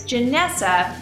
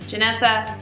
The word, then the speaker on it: Janessa: Another way to do it is to say: My name is Janessa, which is like Vanessa, a more familiar name, with a "J." Janessa - Vanessa with the J.